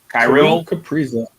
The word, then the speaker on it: Kaprizov: Kaprizov.